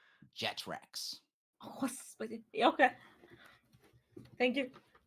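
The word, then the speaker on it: Jethrax: Yes, my name is Jethrox. How do you spell that? Can you tell it? J E T H R A X Jetracks.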